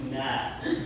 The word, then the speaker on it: Gnat: Actually, it's Gnat. D-N-A-T. The T is silent.